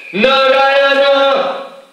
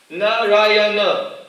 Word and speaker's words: Narayana: He screamed out, Narayana! Narayana, four syllables.